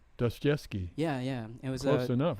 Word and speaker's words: Dostoevsky: That one is actually based on a book I was reading by Fyodor, I may be pronouncing his last name incorrectly, but Dostoevsky? Dostoevsky.